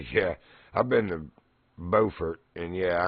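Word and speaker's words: Beaufort: yeah I've been to bordt and yeah I know how to pronounce it it's not buer don't you dare call it Buford anyway it's bordt right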